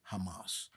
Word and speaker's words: Hamas: bombed the Israelis Hamas so you understand the pronunciation right Hamas now just like when I'm in Spanish class with white people they said the name is Hamas right ham it's very easy to pronounce you are always going